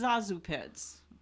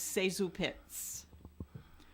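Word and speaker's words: ZaSu Pitts: Most people know her as Zazu Pitts, but in checking the facts on my question, she, in her own autobiography, said that the correct pronunciation of her name is Sezu Pitts.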